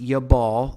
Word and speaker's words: Jabal: into these individual names now javal in the king james version that says jabal uh this is strong's concordance number 2989 and it is pronounced yabal there now if we've